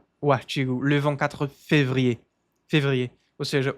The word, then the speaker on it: Février: Février. Février. Esse R não se pronuncia.